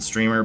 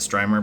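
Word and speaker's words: Strimer: these uh strier they I think you're supposed to pronounce it streamer but I love calling it strer because of how Leon Lee spells it but it's the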